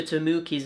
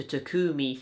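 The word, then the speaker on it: Tomoki: Oh yeah, by the way, just as a warning, I mispronounced Dr. Tamuki's name as Dr. Takumi throughout this entire video,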